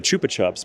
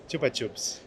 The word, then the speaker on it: Chupa Chups: We say in America the Chupa Chups, but it's actually pronounced Chupa Chups.